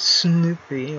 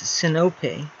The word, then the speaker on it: Sinope: I think it's an omega, so it would be Sinope rather than Sinope or Sinope.